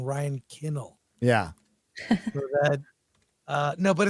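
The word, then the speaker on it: Ryan Condal: know I think that when you say Ryan kandell I think you're mispronouncing Ryan kinnel yeah that uh no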